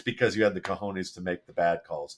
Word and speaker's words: cojones: La palabra es cojones.